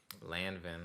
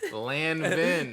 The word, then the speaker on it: Lanvin: And I was just like, bro, these, how you pronounce the name again? Lanvin. Yeah, my fault. Lanvin.